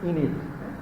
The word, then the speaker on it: Aeneid: So this is Aeneid. The pronunciation is Aeneid. Aeneid is also considered a national epic of ancient Rome.